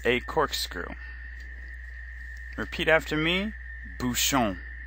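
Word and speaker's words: bouchon: Tia Bhushan is a corkscrew repeat after me Bhushan Bhushan shown TL Bhushan teo Bhushan teo Bhushan this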